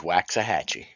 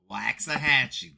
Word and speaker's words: Waxahachie: league rules cool on another note it is waxahachie waxahachie there you go you did you did i